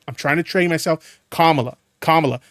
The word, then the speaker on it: Kamala: my ass for mispronouncing Kamala. I'm trying my best to get it right. I'm trying to train myself. Kamala. Not Kamala. Kamala.